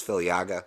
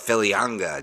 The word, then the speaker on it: Filiaga: I know it's Filiaga, but Filianga just sounds cooler.